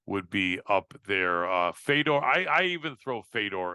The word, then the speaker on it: Fedor: be up there uh Fedor I I even throw Fedor and melano in there or Fodor as they pronounce it he never fought in